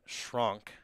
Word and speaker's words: Schronk: Schronk, the German pronunciation from Fredericksburg, Texas.